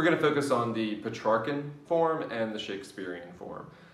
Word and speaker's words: Petrarch: a guy named francesco petrarch um and sometimes pronounced pre-shark um and he wrote